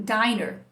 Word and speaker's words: diner: então aquilo é um diner. E aí, então você usa um N só, fica a vogal longa, I. Usa dois N's, fica a vogal curta.